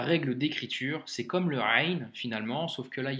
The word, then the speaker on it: غ: leçon numéro 24 donc la lettre rain se prononce comme le r en français que tu retrouves par exemple dans le mot paris donc c'est le même